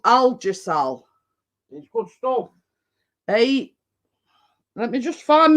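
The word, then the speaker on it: Algesal: problems with these inflamed muscles uh it's cut it's spelled a-l-g-e-s-a-l and it's called algisol cream uh but it does say I'd have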